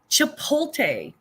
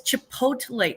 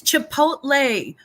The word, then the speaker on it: Chipotle: me freaking crazy crazy it's even spelled like with the T before the L and it's Chipotle it's Chipotle Holly you know who